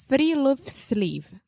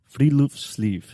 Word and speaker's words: Friluftsliv: Alexia, do you want to take a guess at how to pronounce this? We already know because we were practicing. So give it to me. It's Friluftsliv. Friluftsliv.